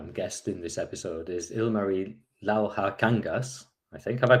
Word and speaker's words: Ilmari Lauhakangas: And another guest in this episode is Ilmari Lauhakangas, I think. Have I pronounced that correctly, Ilmari? Yeah, Wow. Ilmari Lauhakangas.